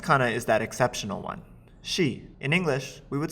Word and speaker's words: し: sa the next cona is that exceptional one she in English we would spell it out as she s sh to us